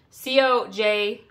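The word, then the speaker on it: cotija: to say it correctly I can spell it c-o-j-i-t-a cojita cheese I think possibly is how you say it it is a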